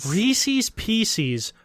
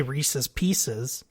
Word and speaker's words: Reese's Pieces: so it's Reese's and they chose a name of a product that rhymes with Reese's and that piece is